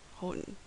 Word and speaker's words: Houghton: rt parterre French word and Houghton we can use the oh ugh Oh ugh HT contraction even though it's pronounced Holden because the pronounciation doesn't